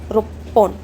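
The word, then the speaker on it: ろっぽん: तो रो और फिर छोटा त्सु रोप्पोन, रोप्पोन।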